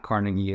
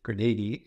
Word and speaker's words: Carnegie: And can you quickly share about the, and you say it's not Carnegie, it's Carnegie. It's the proper way of pronouncing it.